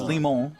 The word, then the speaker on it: Limon: It's just Limon. Okay. So the N is there. It's just you're kind of swallowing it.